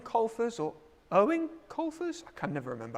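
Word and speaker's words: Eoin: on this one and it's just owen apparently is how you say it right question number four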